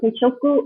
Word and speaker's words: teishoku: So guys, it's so easy to set your teishoku.